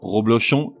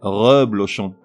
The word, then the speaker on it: reblochon: Pour chacun d'eux, tout d'abord la mauvaise prononciation, suivie de la bonne. Roblochon, reblochon.